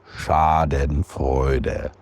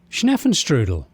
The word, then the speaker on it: Schadenfreude: Otherwise known as Schadenfreude, which probably I'm butchering that too, but we've had many of our German friends chime in and they say it's pronounced like this. Schadenfreude.